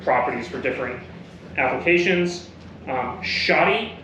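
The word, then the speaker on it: Schottky: for different applications um shoty be careful how you pronounce this one so s c h o TT k y shoddy so don't substitute the O for I um xener diodes um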